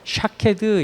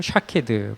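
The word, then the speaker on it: שקד: 이 두 가지 특징이 가장 큰 건데, 여기서 살구꽃 의미 조금 더 살펴보면, 이 살구꽃이라는 이 의미가 그 히브리어로 샤케드 이렇게 발음해요. 샤케드 뭐 이렇게 발음하는데, 이거 킹제임스 버전에서는 아몬드라고 이렇게 번역을 했어요.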